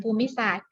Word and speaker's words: ภูมิศาสตร์: เท่า นั้น นะ คะ ภูมิศาสตร์ ออก เสียง ภูมิศาสตร์ ตัว ที่ ไม่ ออก เสียง ตอเต่า รอ เรือ การันต์ ทั้ง 2 ตัว ไม่ ออก เสียง ค่ะ ต่อ ปาย ข้อ